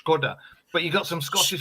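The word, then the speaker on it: Škoda: on my nipples because it's meant to be pronounced Skoda, but you got some Scottish woman. This is no offense, Lois, going Skoda, and it's just like shut up.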